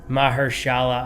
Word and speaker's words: Mahershala: And then Mahershala Ali, who plays... much better pronunciation.